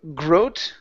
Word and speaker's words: grow: Right here instead of grow. Gro. Okay. The W does not make a sound.